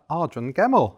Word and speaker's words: Ardron-Gemmell: have a brand new guest it is ardren gemmell and i said it right didn't i you